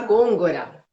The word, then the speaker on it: Gongora: Como que pronuncia seu sobrenome? Gôngora.